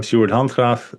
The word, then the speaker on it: Sjoerd Handgraaf: Your the way you pronounce my name is great. I'm Steuart Hunra.